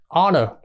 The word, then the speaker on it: honor: h o o r chữ này bắt đầu đánh dần thì là letter là h nhưng mà trong ký tự phiên âm đỏ đỏ đó thì nó lại bắt đầu bằng nguyên âm tức là h h nó bắt đầu nó có hai âm O và n đ chưa cái O đó đó là nửa o nửa A đúng chưa Nó là o ngắn thành ra là h